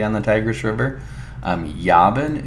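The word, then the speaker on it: Javan: the Tigers River um yabin is actually pronounce ion and so you're going to see this in the word Ionia which is going to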